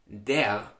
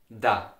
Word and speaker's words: der: In the Austrian dialect, the article for the masculine nouns, der, is widely pronounced da.